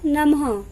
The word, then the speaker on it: नमः: इसका उच्चारण आधे ह की तरह होता है। जब ह के पैर में हलंत लगता है तो ह आधा हो जाता है। जब हम इसका उच्चारण करते हैं तो इसका उच्चारण होता है नमः, प्रातः।